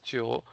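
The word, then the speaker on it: 九: it looks like the shape of number 9 Chio. If you take a look at their character, the Chinese character for number 9, which is pronounced as Chio, it is like shaped in a similar way.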